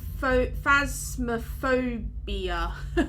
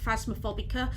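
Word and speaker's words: Phasmophobia: down as well phab phasma phobia i always pronounce it wrong i always call it like phasma phobica and saw something like that but it's phasmaphobia um there's the game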